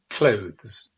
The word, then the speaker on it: clothes: But it's quite difficult because we have that kind of TH sound followed by a Z sound, close.